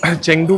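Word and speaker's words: Chengdu: Right now वी आर इन शेंगटू city in China. और चंगदू को आप अलग-अलग तरीके से ही प्रोनाउंस कर सकते हो। I like to call it चंगदू।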